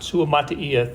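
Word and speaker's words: Suamataia: here early than Kingsley Sua-Mata'afa. Sua-Mata'afa. Sua-Mata'afa, thank you. I will never not need to be corrected on that name. it's just like it's spelled, yeah.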